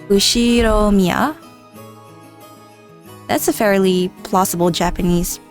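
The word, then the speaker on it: Ushiromiya: is one of my cousins his name is pronounced usir Mia George he's 5 years older than me so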